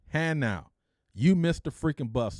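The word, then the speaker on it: Hanau: bus left two hours ago and it's not hanua it's Han out I'm like no that freaking thing says hanu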